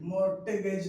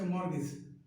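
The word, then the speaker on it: mortgage: Next मॉर्टगेज नहीं, मॉर्टगेज नहीं, इट्स मॉर्गेज।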